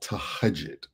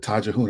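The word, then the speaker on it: تهجد: And Amina Roche talked about something called tahajjud. I called it tajahun. I didn't know how to pronounce it. So tahajjud. Tahajjud, yes.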